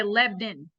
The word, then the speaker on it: Lebanon: Lebanon Lebanon let this they say the locals say lebden Lebanon Lebanon see there